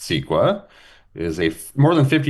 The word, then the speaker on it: CEQA: So the California Environmental Quality Act, which is pronounced SQUA, is a more than